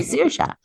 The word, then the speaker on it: Saoirse: If you can say Sear and you can say Sha, you can say Saoirse.